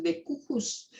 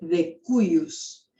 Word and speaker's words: de cujus: ¿Saben lo que quiere decir de cujus? Nunca lo pronuncien de cujus porque está mal. Esto se dice de cuius.